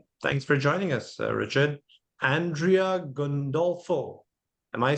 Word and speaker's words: Andrea: no it's it's okay Andrea it's the correct pronunciation but that's fine can call me Andrew I'm based in uh